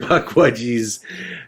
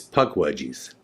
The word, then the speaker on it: Puckwudgie: back and re-watch it nobody can say the word puck budgies right I just said it wrong see right there the actual pronunciation is puck wedgies and we called it